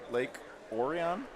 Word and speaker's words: Lake Orion: Palazzo is a facility in Lake Orion, I'm told it's pronounced, Michigan, just north of Detroit.